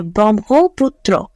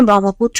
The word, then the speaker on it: ব্রহ্মপুত্র: আচ্ছা সঠিক উচ্চারণটা হচ্ছে ব্রহ্মপুত্র। ব্রহ্ম ব্রহ্মপুত্র। ব্রহ্মপুত্র এটা হচ্ছে ব্রহ্মপুত্র।